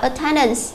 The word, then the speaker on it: attendance: Câu B chúng ta đọc là attendance. Tương tự như thế, từ A chúng ta đọc là ơ, và đáp án D chúng ta đọc là again.